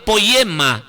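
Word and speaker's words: ποίημα: palabra hechura significa poema poema es la pronunciación del griego poema poema y qu se la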